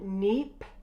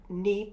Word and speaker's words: neap: the year the term neep tide neep is spelled neap P takes place 7